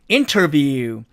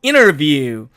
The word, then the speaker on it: interview: 자, 그 다음에 L번 이 단어의 사전식 발음은 interview 이게 맞습니다. 그런데 이 경우도 보니까 은트죠. 그러면 또 트가 사라지니까 결국 interview 이렇게 발음이 된다는 뜻입니다.